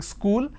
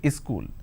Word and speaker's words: school: this as a school wherever there is a word that starts with the sound they add a a in front so instead of saying school they say is cool something like this happens